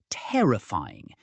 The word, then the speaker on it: terrifying: Pronunciation tip: terrifying is stressed on the second syllable, terrifying. Say it slowly, then speed it up.